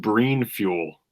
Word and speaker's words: Brein: sounds like it'd be pronounced breen fuel.